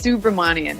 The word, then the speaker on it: Subramanian: was really getting me there you want to pronounce it for our listeners sure it's Subramanya it's got a lot of letters I think